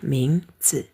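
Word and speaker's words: 名字: Kalau berdiri sendiri bacanya C. Tapi kalau jadi ming ce bergabung dengan ming ce ini jadi nada ringan ya.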